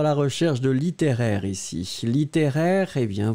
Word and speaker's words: littéraire: Alors, nous étions à la recherche de littéraire ici. Littéraire, eh bien, vous l'écrivez L-I-T-T-E, accent aigu R-A-I-R, et vous le prononcez littéraire.